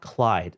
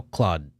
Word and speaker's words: Claude: to pronounce this again it's not clyde this is cloud yeah i think it's cloud cloud cl because it's french oh claude claude the other house